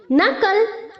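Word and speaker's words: knuckle: होगा okay knobs नॉबिंग नकल नकल्ड नकल्ड इसे हमें उसी तरह से प्रोनाउंस करना है जैसे हम कॉपी करने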